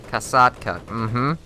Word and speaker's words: Kasatka: But aside from that, you've got the KA-60 Kasatka. Once again, that is how you pronounce that without a doubt.